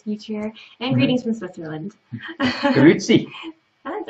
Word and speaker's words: Grüezi: Grüezi.